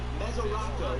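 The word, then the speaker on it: Mesoraco: Mesorasko.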